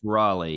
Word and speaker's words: Raleigh: So, pretty close because you live in Raleigh or It's Raleigh. Yep. Raleigh. I'm so sorry. I always Oh mispronounce it.